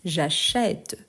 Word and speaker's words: j'achète: à parler plus vite donc cet accent il y a une fonction par rapport à la prononciation donc on dit j'achète j'achète du coup quand je